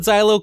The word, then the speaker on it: Xylo: I'm going to call it Xylo kind of because it reminds me of the word xylophone. So I'm going to pronounce the X like a Z, but they're the Xylo motors.